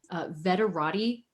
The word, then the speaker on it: Veterati: The first one is Veterati. That's spelled kind of like Maserati, but veteran at the front.